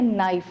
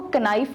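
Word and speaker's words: knife: Silent letter यानी कि वो वाले लेटर जिनकी आवाज़ नहीं होती, जैसे कि फॉर एग्जाम्पल वर्ड है नाइफ. अब हम इसको कनाइफ नहीं पढ़ते, अब नाइफ में के साइलेंट है तो ये आपने साइलेंट लेटर है.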